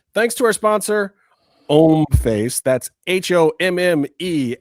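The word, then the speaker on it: Homme: That's h o mme f- a ce.comface. It's French, guys. The h is silent.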